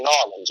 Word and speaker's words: New Orleans: from new New Orleans now again that's the correct way to say it right but everybody who's ever been to New Orleans no you don't say New Orleans you say norleans right a big shout